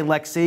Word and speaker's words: LXC: want to refer to so you want us to say Lexi because technically it's a Lexi container what controlled by Lex D right right and I'll be honest I kind of use them interchangeably as I've heard a lot of people in the industry do as well so they get Lex out of their mouth and then it just